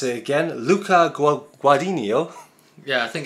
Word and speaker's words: Guadagnino: We've pronounced his name once, we'll pronounce it again. Luca Guadagnino. Yeah, I think it's Guadagnino.